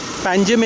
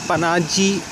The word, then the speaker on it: Panjim: Panjim is also pronounced as Ponje in Konkani. The village transformer, Ponje in Konkani, Panjim in English, PANJIM. Panji in Portuguese, PANGIM, with the M silent, ending M silent. And mispronounced as Panaji in the post 61 era.